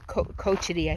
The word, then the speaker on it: Cochiti: that's crazy so i'm in cochiti cochiti i think they pronounce it um campground it's a